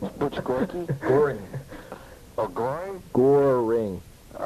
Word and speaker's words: Goring: So, well, you know, you never mispronounce an Islanders, you know, like Butch Gorky. Is that his name? Butch Gorky? Goring.